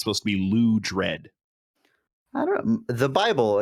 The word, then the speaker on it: Loudred: The Bible, again, to refer to it, says actually Loud Red. Loud Red. Loud, all caps, you emphasize loud dash red is how I pronounce it.